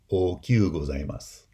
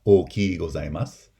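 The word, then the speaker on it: okyū gozaimasu: make it hyper polite, the pronunciation would be okyu gozaimasu, where that I becomes a glide in kyu gozaimasu. It's not oki gozaimasu or okyu gozaimasu.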